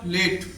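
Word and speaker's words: late: उच्चारण क्या है इसका लेट आपको लगता है ई नहीं है आपको ऐसा फील हो रहा कि उसम ई नहीं है बट ई है बट ई क्या है वो साइलेंट है अगला है केम केम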